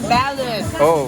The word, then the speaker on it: Balud: Ballad you know Ballad What is Ballad pronounce as Ballad everybody repeat ba b Ball B